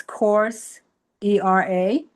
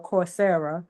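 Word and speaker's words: Coursera: different AI tools, there's course era. I don't know if it's pronounced course e or corsera. Corsera. Yep. Corsera.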